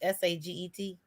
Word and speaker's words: Saget: Saying with Bob, how do you pronounce this? S-A-G-E-T?